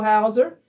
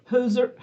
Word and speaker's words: Hauser: Thank you, Julie Idaho Hauser. Hooser. Hooser. Yeah, she knows it's who's. Hooser.